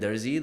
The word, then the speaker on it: Darzi: So I say it in the Indian accent, Darzi, that's how you say it.